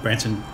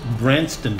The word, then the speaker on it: Branston: sardines and the uh Branson pickle I apologize I was saying it wrong that's Branston pickled with tea I will